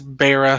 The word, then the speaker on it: Beira: And I do apologize for mispronouncing it. Yeah, it is Beira, so.